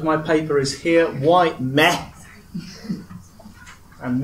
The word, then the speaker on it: με: So the subject of my paper is here, why meh? And meh, for those of you who can't read ancient Greek, is just ancient Greek for me in the accusative.